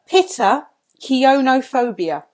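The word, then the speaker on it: Pittakionophobia: Is called pitakaniophobia. Pitakionophobia. That sounded a better pronunciation.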